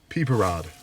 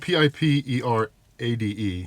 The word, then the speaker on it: Pipérade: peper rod peper rod it's spelled p i p e r a d e so youd think piperade it's got a little accente goo or whatever you want to call that over the e but it's peeper Rod